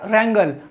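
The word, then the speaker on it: wrangle: का फोर्थ वड़ा हमारा रंगल अब ट्रेंगल जहां पर आप देखेंगे डब्लू से स्टार्ट हो रहा मगर में रंगल गैर हूं तो डब्लू यहां पर क्या है साइलेंट है आपका इसका मतलब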